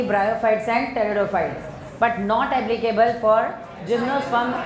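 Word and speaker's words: pteridophytes: टेरिडोफाइट्स में P silent है, तो कोई पटेरिडोफाइट नहीं पड़ेगा, सब लोग धीरे धीरे बोलते हैं, हम बोलते यही हैं, तो टेरिडोफाइट ही आपको बोलना है, सम टेरिडोफाइट्स, बट नॉट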